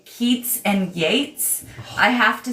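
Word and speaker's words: Yeats: I'm talking about Keats, I have to say Keats and Yates in my head silently. So, you remember which is witch. So, I because they're spelled the same way.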